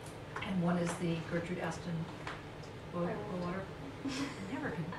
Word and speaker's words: Aston: One is an AHRC, and one is the Gertrude Aston Water. I never can say her name right. It's ASTON, right? No H. Yeah.